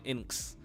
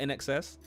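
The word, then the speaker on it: INXS: I would have said Inks, but In Excess.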